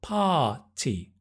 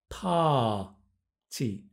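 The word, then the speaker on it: party: In British English, it's parti. We don't pronounce the R at all. So that the tongue must come back. Parti.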